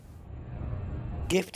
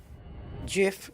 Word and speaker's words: GIF: we don't do that gift is pronounced with a hard G GIF which stands for graphic interchange format is pronounced GIF it is I mean